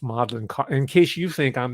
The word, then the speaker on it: Magdalen: It's pronounced in British English Magdalen, not Magdalene. And I say that because I made the mistake. All right, I'm not. So, but I'm just telling you, it's Magdalen.